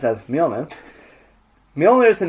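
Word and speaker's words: Mjölnir: at all the cumin hey Fiona which is pronounced as me omen me only is the name of force hammer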